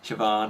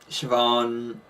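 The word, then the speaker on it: Siobhan: is sarcastic sioban sioban I think it's not spelled like that it's spelled s i o b h a n uh sioban I'm guessing it's like Celtic or something sioban is kind of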